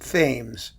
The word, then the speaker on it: Thames: It really ought to be pronounced Thames. And you know how we know it should be pronounced Thames? I'll tell you.